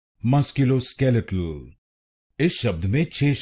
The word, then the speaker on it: musculoskeletal: skeletal musculo skeletal and in this word you have to stress on the fourth syllable musculo skeletal musculo skeletal now you know the